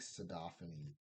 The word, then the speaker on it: sodaphanes: I think sodaphanes wants to talk to you. I pronounce it, yeah, I pronounce it like the way I do xenophanes.